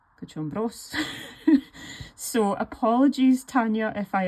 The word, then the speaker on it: Cochombrós: So if you look at it here, the accent should be on the bros, but then it's hard for me to say Cochombrós.